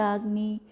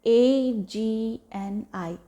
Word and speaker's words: Agni: to focus on that this function of the agni remain in the balance form and it's again